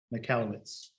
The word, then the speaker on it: Michalowicz: Mike McAllowitz. I'll spell that.